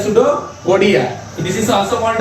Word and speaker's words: pseudopodia: That is called a सूडोपोडिया, बट the meaning starting from the सूडोपोडिया इज अ पी, सो पी इज a silent in that condition and only say that the सूडोपोडिया।